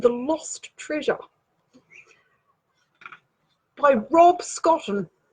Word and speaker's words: Scotton: So, we have Russell and the Lost Treasure by Rob Scotton. Rhymes with cotton and almost forgotten.